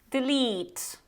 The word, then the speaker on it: delete: So you actually have 2 types of E here. The first one is short E, which is more like e, d, and then long E, which is like a long E in Polish. So delete, delete. Repeat after me, delete. So this is how you can practice the use of these 2 sounds.